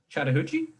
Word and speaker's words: Chattahoochee: Chattahoochee? Okay, The Chattahoochee. name, yeah, it's the name of a river in Atlanta.